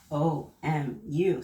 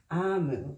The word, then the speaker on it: Omu: So there's a page on the inside that says, Note to the reader, Omu, which we would say Omu, pronounced Amu, is the Igbo term for queen.